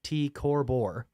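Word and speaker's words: T CrB: Recurrent nova, TCRB, which is pronounced T Corbor, is poised on the knife edge of a once-in-a-lifetime explosion.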